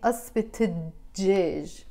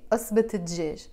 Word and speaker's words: قصبة دجاج: You see I'm pronouncing it not قصبة and then pausing, and djej. No, I'm saying asbet djej. You see? Asbet djej.